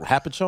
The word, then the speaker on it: Hopatcong: Hopatcong.